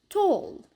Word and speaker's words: tall: عنا حرف ال A الصوتي لما بيجي بعده double L فدائما بنلفظه O. طبعا هذا الحكي باللهجة البريطانية. فالكلمات هون بنقرأهم كالتالي: ball, wall, small, tall.